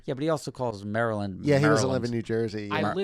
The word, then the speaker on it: Maryland: It's Maryland. Maryland. Maryland is 2 syllables.